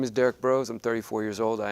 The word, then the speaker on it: Derrick Broze: Our next one up is Derrick Broze. Did I pronounce that correctly?